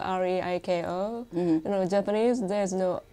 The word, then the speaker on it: Reiko: It pronounced like R-A-Y-C-O as opposed to R-E-I-K-O. Japanese there's no R or L. Okay. So here you go. So people call you what? R-A-Y-C-O, Reiko.